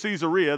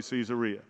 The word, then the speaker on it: Caesarea: there actually told me the name of the city is caesarea that's how everybody that lives here pronounces it and then i just kind of figured out that if you live somewhere and that's what it is they probably know how to say the name so that's why i say caesarea you ever met anybody